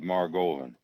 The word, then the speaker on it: Margolin: steady rolling Bob Maran steady Rolland rhymes with Mar Goan and he and steady